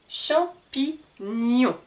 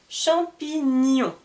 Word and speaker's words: champignons: la prononciation du GN le GN va bien se prononcer ni champignons c'est comme si j'entendais ni champignons voici pour quelques informations